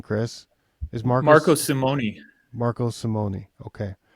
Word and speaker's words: Marco Simone: there with um tell help me with the pronunciation Chris is Marco Marco Simon Marco Simone okay Y and um the director of agronomy